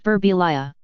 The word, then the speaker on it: Birbiglia: Sometimes people come up to me and they'll be like, in Italy, it's pronounced Birbiglia.